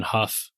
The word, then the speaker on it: Hough: I'm on LinkedIn, Huff. Huff is spelled like Hough, like tough.